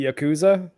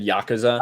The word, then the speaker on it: Yakuza: election i think i i tend to say yakuza when i'm saying it in a sentence as the title of a game and yakuza if i'm saying it singularly but i don't know